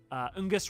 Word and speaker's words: Ungus: Ungus rhymes with disgust and that feels intentional.